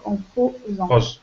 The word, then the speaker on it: posant: Un S entre deux voyelles se lit Z, donc en posant.